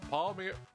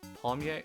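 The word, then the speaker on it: palmiers: Uh are the uh the pronunciation is similar to wait. Pomier pomier. Pomier. Pomier. Pomier. Pomier. Okay, I got it.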